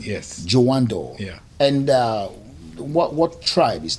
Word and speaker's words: Jawandor: Jawandor, like the door. Oh, Jawandor. Yeah. That's the right pronunciation. Yes. Jawandor.